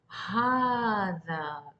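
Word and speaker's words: هٰذا: So how are you going to pronounce as هذا, as if there is an alif here? In the script, it's not written. As you can see in the standard Arabic, the alif is not there after ha. But still we pronounce as هذا. We don't say هذا. It's هذا.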